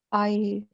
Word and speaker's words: signed: Signed. Signed. I'm signed. G silent.